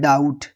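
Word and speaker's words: doubt: एक और वर्ड है डी ओ यू बी टी। इसको हम क्या पढ़ते हैं? डाउट। ठीक है ना? डाउट में अभी टी से पहले बी है तो बी हमारा क्या हो गया? साइलेंट हो गया।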